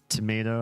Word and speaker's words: tomato: Tomato having two different pronunciations, tomato versus tomato, is because it entered English right as Europe was coming out of the vowel shift. So it shifted some places, but not others.